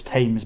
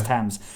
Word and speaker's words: Thames: Yeah, and then there's a comedic beat where James Corden interrupts him and goes, "You can't just decide that it's Thames because it rhymes with Ames. It's Thames."